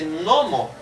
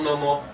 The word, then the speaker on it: nomo: Por isso que eu disse nomo e não nomo. Né? E por isso que eu disse mia e não mia. Então, sempre a sílaba tônica das palavras com mais de uma sílaba é a penúltima, paroxítona.